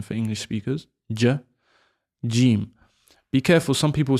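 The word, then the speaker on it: جيم: Jim. Be careful. Some people say like a a sound, but the pron correct pronunciation is jim. It comes from the middle of the tongue just coming out.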